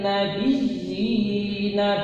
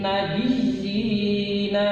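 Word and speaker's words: النبيين: Wa yaqtulunan nabiyyina bi ghairil haqq. Nah, ini cara membacanya. Contoh lagi, ba'asallahu nabiyyina mubasysyirina wa mundzirin. Nah, ya yang bertasdid ini ya ditekan, membacanya ditahan sekitar 2 harokat.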